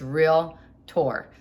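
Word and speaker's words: Realtor: board in my in my um Association it's real tour so r a l t o r e is how you pronounce it anyways they suit us saying that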